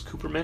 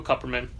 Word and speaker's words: Kupperman: I would say so did we learned years ago was Cooperman and we were saying it wrong however Ken Jennings best-selling author of Brainiac all the answers Michael Kupperman it's a graphic memoir